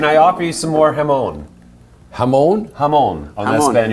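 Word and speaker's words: jamón: can I offer you some more jamon?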